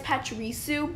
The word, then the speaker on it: Pachirisu: It's kind of like Parachu, that. Parachu, yeah. Something like that. You didn't get the pronunciation right. It's Pachirisu, but...